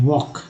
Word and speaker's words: walk: अब देखिए CALM, काम, एल जो है यहाँ साइलेंट है, WALK, ठीक है, यहाँ एल जो है साइलेंट है, वॉक, ठीक है, वॉक।